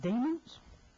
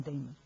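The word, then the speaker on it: daemon: And the do you pronounce it demons? D A E M O N. I'll call them Damon because it certainly doesn't mean demons.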